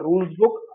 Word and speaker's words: RulezBook: You can actually get a sense of that by downloading an app called Rulesbook. I pronounce it as RULEZ, spell it as RULEZBOOK.